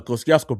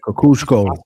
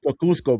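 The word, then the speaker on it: Kosciuszko: Because if you try to read it and try to pronounce it, brother, the K the Koskiasco bridge. Yeah. Kakusco. Kakusco, bro. Kakusco.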